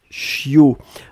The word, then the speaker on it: chiot: ce qu'on appelle un chiot on écrit ça ch io t on ne prononce pas le thé finale je